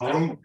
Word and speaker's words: Varuk: Is it a B? What? How do you say this? Varuk. Say again. Varuk. Varuk. Okay. Accent on the whole thing, all the syllables. Yes. That's how you know you're doing it right.